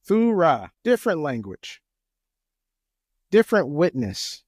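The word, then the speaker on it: θύρα: It's pronounced thurra.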